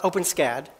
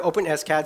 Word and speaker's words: OpenSCAD: How do you pronounce it? Not OpenSCAD. The maintainers prefer OpenSCAD so it doesn't sound like an open wound.